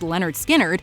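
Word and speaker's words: Lynyrd Skynyrd: of this cut off- pronounced Leonard skinnard that the band first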